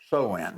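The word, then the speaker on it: Samhain: It was called uh Soin. It's actually spelled s a m h a i n, but it's pronounced soen.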